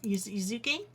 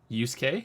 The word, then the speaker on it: Yusuke: Yuzuke? Yuzuke? It's said as if a Canadian person came over and wanted to know if you were okay. Yusuke?